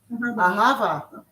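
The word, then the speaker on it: אהבה: Ahava.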